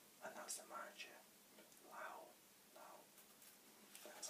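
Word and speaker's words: Löw: Lau, that's how you say it.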